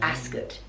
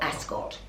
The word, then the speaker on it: Ascot: said to me Joe Ascot emphasis on the first syllable asot not Ascot shows how often I've